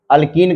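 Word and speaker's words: alkene: ठीक है, स्पेलिंग पे, उच्चारण पे ध्यान दीजिए। अल्केन, पहले एन बोल रहा हूं, फिर इन, ए बोला पहले ए, फिर ई, फिर आई।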